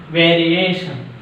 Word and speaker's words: variation: Second syllable from the end. TION. ATION. Education. Education. Education. Education. Next one. Variation.